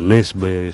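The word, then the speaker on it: Nesbø: otros autores muy antes como un autor noruego nesbe según me dijo un amigo que vivió en Suecia que se pronuncia así se escribe nesbo y se pronuncia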